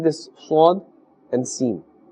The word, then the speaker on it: س: So Sin has a harder sound and Sad has a little more gentle sound.